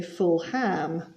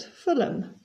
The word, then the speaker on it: Fulham: Peterborough not Peterborough and we don't say full ham but Fulham Peterborough one two nil